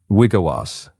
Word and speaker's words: Wiigwaas: Yeah, so it's pronounced Shane Wiigwaas, an Anishinaabe defense attorney added in the Life Road half chapter, which released June 25th, 2026.